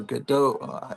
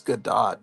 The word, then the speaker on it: Gadot: Like when Wonder Woman, uh, Gal Gadot or Godot, I want to pronounce it Godot because it looks like Bridget Bardot, but I guess it's Gadot.